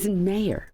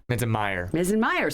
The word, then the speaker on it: Minzenmayer: Oh, I was working on that pronunciation, and I think I messed it up. You're fine. You got it. Minzenmayer. Minzenmayer.